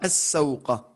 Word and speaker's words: السوق: Ouais, c'est une lettre shamsiya, on ne prononce pas le lam, donc ça sera as-sawqa.